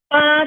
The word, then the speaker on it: 八: 八成珍贵八 jangan bacanya terlalu kasar. Jangan jadi nanti bacanya 大成珍贵八 itu jadi nada keempat. Ya, harusnya kan ada satu. Kayak kita manggil mama. Mama kan nada juga nada pertama.